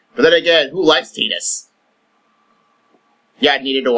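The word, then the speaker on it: Tidus: I'm amazed they didn't throw Titus from Final Fantasy X, by the way, it's pronounced Titus, not Titus, into this game.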